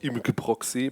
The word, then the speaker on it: imgproxy: I'm not sure, but the main developer told me that it's called imgproxy, but I find that hard to pronounce with a German accent, but that's why I call it image proxy still.